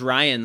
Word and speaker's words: Rayyan: My brother's name is Ryan, spelled Rayyan. So I'm all with the pronunciation.